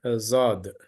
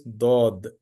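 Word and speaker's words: ضاد: who learn Arabic letters through uru they say Zod Zod is not correct it is do do is the correct pronunciation of the Arabic from the Arabic origin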